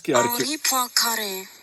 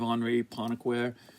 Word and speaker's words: Henri Poincaré: I just want to, if you're just Henri Poincaré, French.